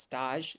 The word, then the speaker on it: stage: We called it in pastry school a stage, spelled just like stage, but only it's pronounced stage, because the French have to be different.